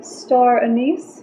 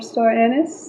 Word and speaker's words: star anise: will also be adding three star anis four star anise depending on how you pronounce it I love star knee